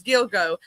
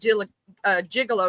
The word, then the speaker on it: Gilgo: it, I called it even though I knew it was Gilgo, I called it Jill Jigalo because that's the way it's spelled.